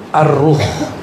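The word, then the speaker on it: الروح: Sekarang masuk ke istilah kedua, yaitu ar-ruh. Bukan roh ya, ar-ruh. Kalau roh apalagi tuh ya. Bacanya ar-ruh pakai alif lam.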